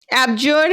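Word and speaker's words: abjure: Okay, इसका pronunciation check करो। अबज्यूर है या अबजर है, मीनिंग इसका प्रोनाउंसिएशन चेक करो। एब्जर है या एब्जूर है? साउंड चेक करो। पता चला? एब्जोर है, एब्जोर है।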